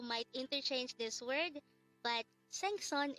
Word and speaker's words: 생선: interchange this word but sang-son is fish and sunseng is teacher if you'd notice it's easy to get confused with these two words because the two syllables of this word are the same both of them has sun and sing but the one with the sang first is fish and the one with the sun first is teacher please remember